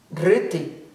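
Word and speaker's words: dhṛti: Dhriti. Dhriti se escreve D-H, R com pontinho embaixo, T-I. Dhriti.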